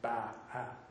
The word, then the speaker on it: Bachman: By the way, it's B-A-C-H, but it's not Bachman's. A lot of birders mispronounce it. It's Bachman's. He was a Protestant minister of German origin, and he pronounced his name Ba-ha.